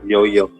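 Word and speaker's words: Yaoyao: So, Rick, the pronunciation of Yao Yao is Yo-Yo I see?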